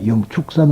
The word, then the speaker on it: 영축산: 해서 독수리 출전하고 그래가지고 우리는 불교에서 취 라고 읽으면 안 됩니다 영축산 으로 이루어 주는 것이